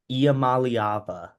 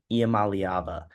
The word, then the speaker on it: Iamaleava: I think their defense is very good, but I also think that if Nico Iamaleava, I'm pretty sure is how you pronounce it, Iamaleava.